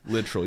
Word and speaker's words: Littrell: Nope. Nope. Littrell. You heard it here, folks. Yeah, Littrell. That's the way my grandpa pronounces it. He's 93 years old and still alive, so he is the reigning person that gets to describe how we pronounce our name.